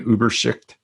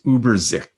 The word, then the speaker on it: Übersicht: And Übersicht. I've never figured out how to pronounce this.